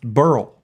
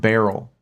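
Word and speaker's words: Beryl: that name is pronounced Burl that's how you pronounce that name that name is pronounced Burl not barl but it could be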